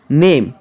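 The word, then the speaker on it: name: আমরা দেখব যে লং সাউন্ড হলো বায়োলের বর্ণমালার মত উচ্চারণ হয়। যখন লং সাউন্ড হয় তখন যেইটার উচ্চারণ যেমন তেমনই হয়। যেমন এই ই আই ও ইউ নেম এন এ এম ই নেম পি এল এ এন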